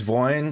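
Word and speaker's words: войне: Is the second word pronounced with a B or a M or M or a I know yet it's no but the middle word it's voin so it's with the V I was I need And so the V.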